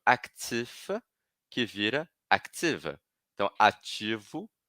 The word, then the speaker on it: actif: Então aqui no actif, eu estou falando só o F. Active, estou falando só o V.